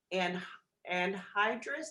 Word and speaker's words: anhydrous: This is considered anhydrous. Did I pronounce that correctly, Bill?